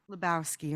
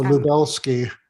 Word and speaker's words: Lubelski: Lubowski, okay. No, Lubelski. Lubelski, okay, got it.